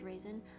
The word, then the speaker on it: Ryzen: I'm choosing to believe Ryzen is pronounced raisin. I think it's also raisin. I just say Ryzen because I like that better.